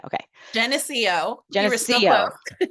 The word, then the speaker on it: Geneseo: Geneseo. Okay. Geneseo.